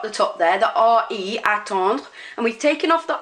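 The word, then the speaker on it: attendent: Nous attendons, we wait, vous attendez, you wait, and il and elle attend, not pronouncing that ENT at the end, is they wait.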